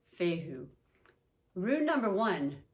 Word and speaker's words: fehu: the letter is but fehu man letter f pronunciation fehu rule number one sound familiar aries you are